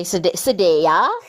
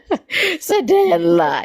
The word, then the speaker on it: Sadela: It's an L, not a Y. Yeah, but it's hard I to. always pronounce it in Spanish. Sadela.